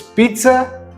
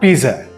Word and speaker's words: pizza: data this is pizza there's an invisible T just before disease so it's pizza not pizza this is genre not